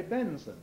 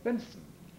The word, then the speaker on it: Benson: in the fourth syllable benson is pretty obviously son of ben but we don't say benson we say benson and notice that people who epenthesize between n and s like fencing they say benson so that's further evidence